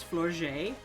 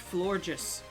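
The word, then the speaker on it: Florges: been sending out as flourget but it's not it's it's pronounced floor just I learned in the anime it's pronounced floor just like the word gorgeous but flojus but I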